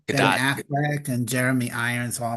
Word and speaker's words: Gadot: Ben Gadot. Affleck and Jeremy Irons all making fun little Gadot. She's not French. You say the T. She said it specifically. She's Israeli. You pronounce the T.